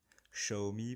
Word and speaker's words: Xiaomi: Xiaomi pour ceux qui veulent prononcer à la chinoise, moi je dirais Xiaomi.